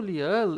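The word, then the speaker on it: 리을: Então ele vai ter o som de L no início, na primeira sílaba, e o som de R no meio ou final da palavra, na segunda sílaba, terceira sílaba e assim por diante.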